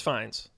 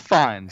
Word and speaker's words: Fiennes: who's played by Ralph I never know how to pronounce his last name he ends finis VN spines I think it's fine I think it's finds Ralph Fiennes he's great Voldemort um